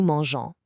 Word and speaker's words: mangeons: or voyager to travel, we just keep the E before the ons ending for the nous form. Why? Just so the G stays soft. So we spell it nous mangeons instead of dropping the E completely.